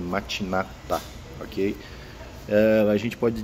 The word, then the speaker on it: Matinata: de ogum matinata tá alguns falam mate nada mas a pronúncia correta é matinata ok ela a gente